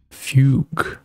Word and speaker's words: Fugue: Fugue. That's how you say it, then.